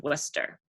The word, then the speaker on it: Wooster: So like you'd spell rooster, it's spelled like Wooster, Wooster, but it's pronounced Worcester.